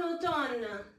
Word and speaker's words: automne: We don't pronounce this M, en automne.